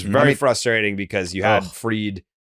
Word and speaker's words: Fried: He just genuinely didn't know that it was Freed and not Fried.